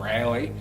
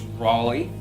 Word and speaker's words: Raleigh: been correcting canadians that it's not rally it's raleigh well done so yeah